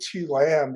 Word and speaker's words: Tu Lam: worst for me because my vietnamese name is actually pronounced tooth and lamb right right yeah can you pronounce that right how'd you pronounce that so i say to lamb because you know you